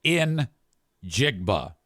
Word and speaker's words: Njigba: So, it's spelled N J I GBA B- A and it's pronounced like in Jigba. Injigba if you slow it down.